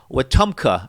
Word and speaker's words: Wetumpka: No, you got it. It's pronounced just like it looks. You got it fine.